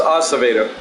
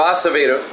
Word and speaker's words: Acevedo: a pretty good pitcher I think it's pronounced Acevedo I heard the public address announced so Acevedo Fisk at the plate